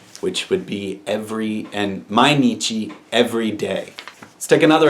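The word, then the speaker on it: 毎日: Sun heat and now you have this being pronounced as Nietzsche which would be every and mainichi every day let's take another example this one's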